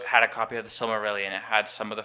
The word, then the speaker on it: Silmarillion: And the Silmarillion, did I say it right?